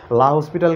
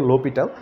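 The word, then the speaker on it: L'Hôpital: এবং তার পাশাপাশি হচ্ছে যে এরপরের লেকচারটাতে আমরা দেখবো হচ্ছে যে একটা শর্টকাট, তোমরা যেটার নামে জানো লা হসপিটাল কেউ বলো, তো এটার আসল উচ্চারণটা যদিও লোপিটাল।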